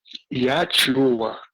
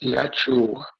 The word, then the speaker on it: Yahshua: He said the real name is Yahshua, which is the name of this Yeshua. But because of the way the people pronounce it, we also follow to pronounce it that way. So the real pronunciation is Yahshua.